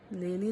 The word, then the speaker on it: Lily: It's pronounced Lily like the flower.